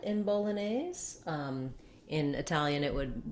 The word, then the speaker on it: Bolognese: american english to say bolognese you have this main stress on the nays syllable and then some secondary stress here on the bo syllable because it's american english